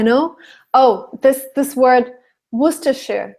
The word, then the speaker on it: Worcestershire: know the origin but it is Worcester and Worcestershire mm-hmm yeah okay Wow thank you so much